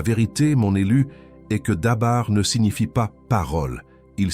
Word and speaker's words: dabar: Cette parole est en hébreu, elle se prononce dabar, écoute bien. D A B A R.